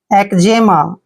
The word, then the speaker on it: eczema: Next word ECZEMA, देखिए ई का उच्चारण हम यहाँ पे क्या कर रहे हैं ए, और सी को उच्चारण हमने यहाँ पे कै करना है, और ZE को जे पढ़ेंगे, एम को मैं पढ़ते हैं, ए को आ की मात्रा।